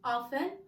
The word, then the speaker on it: often: اذا دائما always usually غالبا generally عامه often احيانا ما تنطقوش تي often، اوكي.